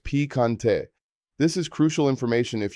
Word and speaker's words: picante: Not spicy is no piccante pronounced no picante.